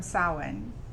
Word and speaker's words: Samhain: So the roots, the most influence is from Samhain, which is a Celtic festival.